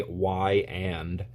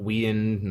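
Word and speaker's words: Weiand: their old slogan is just how to pronounce it say why and Y N not we in not waned y end y end intake manifolds if I'm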